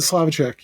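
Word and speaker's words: Slavicsek: So he also he wrote scared stiffs uh with Bill is it Slovc uh Slavichek? I don't want to mispronounce that. Yeah, the Slavichek.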